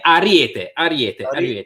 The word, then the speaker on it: Ariete: Is that how that's pronounced? Ariete. Yeah, Ariete, which is ram, essentially, right.